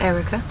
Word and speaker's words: Earwaker: Okay, Earwaker, pronounced Erica, and it's and then Earwaker, which is an English name, spelled Earwaker.